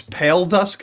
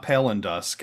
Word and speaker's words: Pale Dusk: It's Pale Dusk, not Pale and Dusk, and it's El Garden, not Ellen Garden.